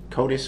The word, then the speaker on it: CODIS: what his code is is that pronounced right CODIS or Kodak yes it is uh can you explain